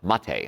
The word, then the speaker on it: maté: ER ba and then the second word is ma te looks like me but it's pronounced Ma Tei I don't know cuz